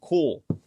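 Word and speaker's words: Kühl: And it is from the brand Cool. That right there is the Cool logo. That right there is how you spell it, K-U-H-L.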